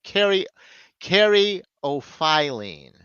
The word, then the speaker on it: caryophyllene: Merriam-Webster, though, says caryophyllene. No, caryophyllene. File, but it's an O, not off. So caryophyllene. And then Wikipedia said caryophyllene.